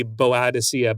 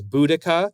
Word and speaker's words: Boudica: So the song, again, with the pronunciation, could be Boadicea, but apparently the original Celt would have had it as Boudica, because the song was